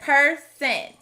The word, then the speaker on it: person: next word is person this word has another schwa instead of hearing person with a short o we hear per sen since the rest of the word sounds like we'd expect we will put person in